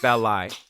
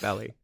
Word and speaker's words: Belli: I know it's hard to pronounce, but it's Willam, not William, Oh, and it's Belli, not Belly.